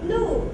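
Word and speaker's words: 禄: It's similar pronunciation was this one. What's the meaning of this one? Lu is official salary in feudal society.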